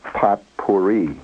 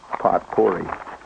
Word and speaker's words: potpourri: we call our uh pot puri night poti. Oh, I'm using the p pronunciation and uh you know